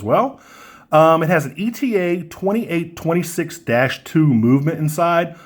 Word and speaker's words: ETA: um it has an ETA 28 26-2 movement inside some people will pronounce that ETA but I say eta but anyway that offers